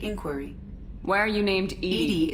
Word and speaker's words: EDI: why are you named edy is the phonetic pronunciation of EDI that is an acronym for enhanced defense intelligence okay now we can